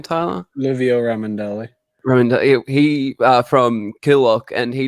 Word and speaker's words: Livio Ramondelli: We had Livio Mandelli. Is that how you say his name, Tyler? Livio Ramondelli.